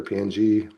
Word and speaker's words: PNG: Make sure ping or PNG, however you want to pronounce that, is selected.